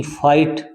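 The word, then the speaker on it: fight: जीच silent है एक एफ आई जी एच टी फाइट फाइट माने लड़ना होता है इसमें भी जी एच साइलेंट है जी एच दोनों बहुत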